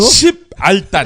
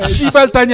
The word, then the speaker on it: 십알단: 다시 한번 발음이 뭐라고? 십알단. 아씨 어려워. 시발단이 아니라 십알단.